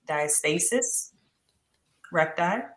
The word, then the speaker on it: diastasis recti: The way that you're saying it, diastasis recti, or diastasis.